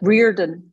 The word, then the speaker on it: Riordan: How do you do you pronounce it? Riordan.